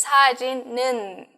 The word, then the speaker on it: 사진은: Entonces, 사진은, ¿sí? El 는 de la pronunciación viene por, ya saben, la pronunciación que nosotros usamos cuando el nien del chin viene seguido de un ien.